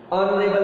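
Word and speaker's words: honourable: Silent है, honest पढ़ते हैं, यहाँ भी एक्स साइलेंट है, ऑनरेबल पढ़ते हैं।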